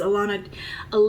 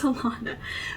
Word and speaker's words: Alana: See, I have the habit of wanting to say Alana, and because I know people with that name and it's pronounced Alana, but she says it's Alana. There is no Lon in her name, no W.